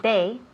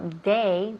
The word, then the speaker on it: they: Si dices they, eso suena como day de día, con una D, y no es una D. They es con TH.